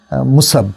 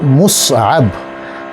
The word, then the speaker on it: মুসআব: মুসাব, হ্যাঁ, অনেক মানুষ মুসআব নামকে মুসাব বলে ডাকে, হ্যাঁ, নামকে মুসাব ডাকার সমস্যা আছে। হ্যাঁ, এটা হলো মুসআব, সাবুন শব্দ থেকে এসছে, মিম সাদ আইন বা।